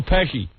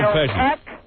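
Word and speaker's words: Pesci: You sound You sound like Joe Peshy. You're a woman who sound like Joe Pesy.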